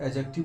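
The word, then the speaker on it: adjective: एडजेक्टिव को आप एडजेक्टिव बोल सकते हैं। डिसाइलेंट होता है।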